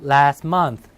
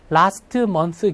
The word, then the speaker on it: last month: 네, T나 D는 변화를 많이 갖는데 자음 3개 중에 가운데 낀 T는 어떻게 돼요? 안 들려요. 네, 그러니까 last month 기다리지 마시고요.